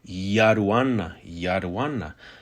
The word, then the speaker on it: Yaduan: This word is very much often pronounced with a Y, Yaduan. However, again, it may be pronounced with a D.